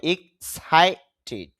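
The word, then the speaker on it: excited: এরপরে সাই, এখানে আইপিএতে খেয়াল করেন উপরে একটা ফুটা দেওয়া, ফুটা মানে স্ট্রেস সিম্বল, মানে চাপ দিতে হবে, ধাক্কা দিতে হবে এখানে, তাহলে উচ্চারণটা হবে এক্সাইটেড। এক্সাইটেড, সার মধ্যে ধাক্কা দিব।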